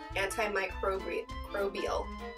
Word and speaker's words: antimicrobial: I keep wanting to say crobrial and not crobial. Stop trying to say it with the R, Crystal. That's not how it's spelled. Say it right.